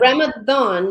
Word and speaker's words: Ramadan: it right exactly but Ramadan is its pronunciation just it's spelled with a d because it's Arabic so thank you I've